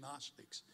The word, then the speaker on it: gnostics: a problem with gnostics everybody say gnostics see now you're a greek scholar it's spelled g-n-o s t-i-c-s gnostics you know what